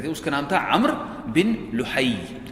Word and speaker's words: عمرو: اس کا نام تھا عمرو بن لحی. یہ میں نے اس کے ہجے لکھے ہوئے ہیں، عین میم رے واو، اس کا تلفظ ہے عمر، لکھنے میں عمرو ہوتا ہے لیکن تلفظ ہے عمر.